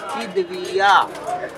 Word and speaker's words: खिदबिया: Example मैं दे रहा हूँ आपको कि जैसे अभी कोर्ट लैंग्वेज में मुद्दई को खिदबिया कहा जाता है, यो शब्द का उच्चारण होता है खिदबिया।